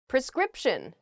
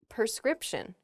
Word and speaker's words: prescription: jewelry we're too lazy prescription not prescription okay a prescription is something that a doctor gives you when you're sick and you require medicine the doctor will write you a prescription some people might say prescription wow okay i didn't even notice and i was doing it while i was telling you guys not to do it that's embarrassing prescription a doctor writes you a prescription not a prescription when you go to